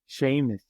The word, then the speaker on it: Seamus: How do you say Seamus? Is it Seamus? Seamus. That's right.